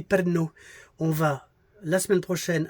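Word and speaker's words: Pärnu: Parnu, vous voyez bien, ça se prononce ici Perno.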